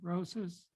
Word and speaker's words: Rosas: to bring forward Rosas. If you have trouble with that spelling and pronunciation, it's just like a dozen roses, but a little bit more soft A, Rosas.